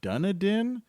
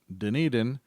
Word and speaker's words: Dunedin: i have a video where i scooted through dunedin which i at first thought was pronounced dunadin but while i was there everyone was pronouncing it dunedin it's near the large cities of st petersburg